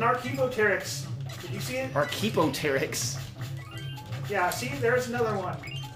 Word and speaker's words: Archaeopteryx: Archaeopteryx. Yeah, see? There's another one. Wow. Is that how it's pronounced? No. How is it pronounced? Archaeopteryx.